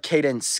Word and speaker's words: Candace: Candace, pronounced like Cadence.